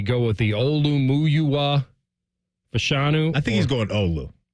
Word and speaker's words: Fashanu: muua fashanu okay or wait a minute it's fashanu fashanu I believe is what we're going with